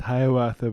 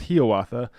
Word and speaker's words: Hiawatha: longfellow a lot of people might think it's pronounced hiawatha but it's pronounced he author it's a it was one of the most